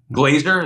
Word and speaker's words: Glaser: Glazer, is that how you say it?